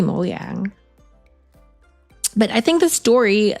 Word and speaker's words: Mojang: pronounce it this is this is Swedish so it has to be moang but I think the